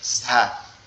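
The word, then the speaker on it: ز: নোক্তা দেই, তাহলে কি হয়ে যাবে, সেটা হচ্ছে ঝা।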